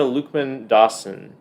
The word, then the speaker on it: Luqman-Dawson: But the 2023 Newbery Medal winner is called Freewater by Amina Luqman-Dawson. Is that how you pronounce her name? That's how I pronounce it. All right. I thought so.